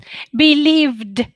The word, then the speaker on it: believed: believe believe is it believe it is it believe or is it believe believed correct believed because of believed believed voiced consonant awesome job yeah good